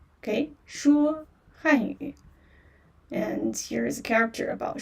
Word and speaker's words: 说: So you just say 说汉语. Okay, 说汉语. And here's a character about 说汉语. 说汉语. So 说, yeah, 说 first tone, which means speak.